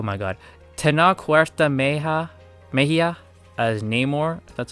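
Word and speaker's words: Namor: Tenna Maya as Neymar.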